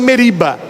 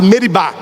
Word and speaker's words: Meribá: É por isso que aquele lugar, Moisés colocou o nome de Massa e Meriba. Nas leituras geralmente a gente lê Massa e Meriba, mas a pronúncia certa é Massá e Meribá.